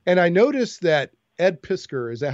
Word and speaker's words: Piskor: And I noticed that Ed Piskor, is that how you say his name? Ed Piskor?